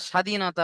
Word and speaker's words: স্বাধীনতা: কিছু কিছু শব্দ লেখার মধ্যে আসে কিন্তু পড়ার মধ্যে আসে না। যেমন আমরা স্বাধীনতা মুখে বলি স্বাধীনতা। কিন্তু আসল বানানটা কি? দন্তেশ্যয় বয়। তাই না? ব কি লেখার জন্য আসে কিন্তু উচ্চারণ করার জন্য আসে না ঠিক সেরকম পদ্মফুল আমরা লিখি